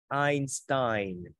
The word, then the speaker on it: Einstein: Chữ này đọc là âm I nha con. Einstein.